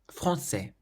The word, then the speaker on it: français: Français. So again, the nasal sound in this word is in the middle.